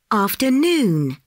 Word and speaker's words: afternoon: The third syllable is under the stress. Afternoon, engineer, understand.